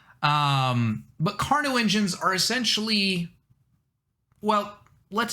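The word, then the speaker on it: Carnot: covers what we call carno engines right so the t is silent in that pronunciation um but carno engines are essentially well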